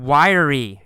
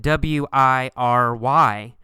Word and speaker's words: wiry: Next paragraph, we see the word wiry. It's spelled W-I-R-Y, but in fact, we say it with 3 syllables. Y-er-ry. Wiry.